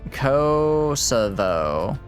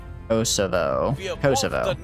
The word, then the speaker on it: Kosovo: VO rhymes with though. Co. Kosovo. Kosovo. Kosovo.